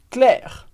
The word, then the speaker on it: Claire: Claire ou CL e essa é outra regra de pronúncia muito importante que o e no final da palavra como Regra geral a gente não lê Então a gente vai dizer cla a gente pronuncia o r mas não pronuncia o e que vem Anes vai lá tenta repetir